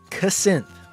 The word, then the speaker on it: Cassynth: Cassynth. That's apparently how you pronounce that. The captions thinks I'm saying cousin, but I'm trying to say Cassynth.